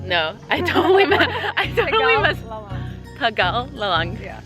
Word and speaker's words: Tegalalang: The driver just taught me how to pronounce it. It's basically called Tegalalang. No, I totally messed. Tegalalang.